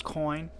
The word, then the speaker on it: Coyne: that coin gives and i went back to check that i am pronouncing the name correctly by the way it is coin uh the the first